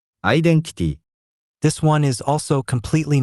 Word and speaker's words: アイデンティティ: We pronounce it アイデンティティ。